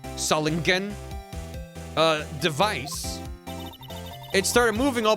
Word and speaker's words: Solingen: Hard G. Solingen.